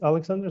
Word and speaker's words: Alexandros: thanks very much um I'm I'm not Greek so without the O uh it's Alexanders I'm I'm laian so